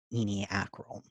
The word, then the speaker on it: ENY/ACRL: And then, of course, how it's pronounced "eenie-akrle."